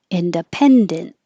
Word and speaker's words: independent: so together postpartum depression independent hold the t independent and if it's this